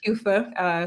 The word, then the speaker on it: QEWFA: in togo yep so the organization like you pronounce it correctly kufa stands for quality education and water for all